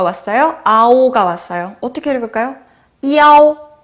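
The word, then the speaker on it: iao: 그래서 이에라고 읽습니다. 자, 그리고 I 뒤에 뭐가 왔어요? 아오가 왔어요. 어떻게 읽을까요? 이아오.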